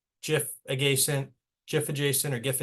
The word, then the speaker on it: GIF: are what we'd call GIF aent GIF adjacent or GIF adjacent it's probably a good PLL idea is it G soft G um it's a low